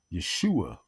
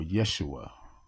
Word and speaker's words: Yeshua: Um, and I would say that it is very important for us to remember Yeshua the Christ, or Yeshua, depending on what pronunciation you want to use or that you feel more comfortable with.